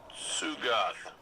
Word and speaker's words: Sugoth: We have tracking on that Knight, critter named Sugoth. T is silent.